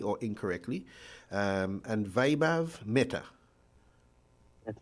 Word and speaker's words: Vaibhav Mehta: um correct me if i'm spelling if i'm pronouncing your names correctly or incorrectly um and vaibhav meta that's correct yes you got it right nice